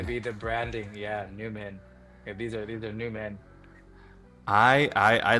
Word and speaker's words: NVMEN: Yes, and even though it's spelled NVMEN, it's going to be pronounced Newman, but these are going to Newman. be the branding. Yeah, Newman.